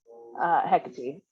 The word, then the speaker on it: Hecate: Hecate. Some people pronounce it that way.